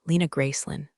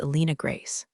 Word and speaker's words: Alina Grace: Please welcome uh Lena Gracelyn, former CTO of Cloud Harbor Solutions. My name is Alina Grace. No Lynn, no former, and I